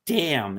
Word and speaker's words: damn: It a word is pronounced damn. It's a silent N, but you will not use that word."